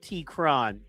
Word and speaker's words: T-Qron: Terrace T-Qron is a versatile MC with a deep cadence and wordplay known as T-Qron, pronounced T-Qron.